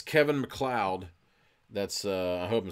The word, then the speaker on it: MacLeod: artist so it's Kevin MacLeod that's hope I'm saying it right MC le OD kind of like Connor MacLeod of the clan MacLeod if anybody knows what